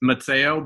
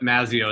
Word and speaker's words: Mazzeo: I don't typically correct people, but if we're going with the actual correct Italian pronunciation, it's Mazzeo, but Mazzeo is typically what people go with.